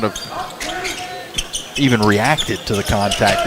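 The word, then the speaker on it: ห้า: doing is funny because five in the Thai language is pronounced ha.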